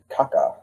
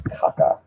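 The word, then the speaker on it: Kaká: Kaka. I'm sorry I uh I said I said his name wrong. There is an accent over the second a.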